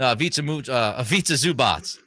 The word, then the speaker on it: Ivica Zubac: Ivica Zubac. Butchered that name. I do a better name. I think usually you do a nailed better it. job. I'm going to say you nailed it. Ivica Zubac.